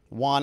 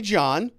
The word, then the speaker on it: Juan: she have to say juan alessi epstein's housekeeper says well she called me john mr epstein called me john but my name is juan jerks 12 years got